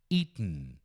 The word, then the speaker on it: eaten: Eaten. Bem nasal assim, ó. Eaten. Eaten. Eaten.